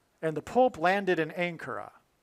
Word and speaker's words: Ankara: And the Pope landed in Ankara, which rhymes with Alaska.